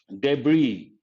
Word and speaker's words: debris: also use the word the letter s is silent debris debris but titanic sank it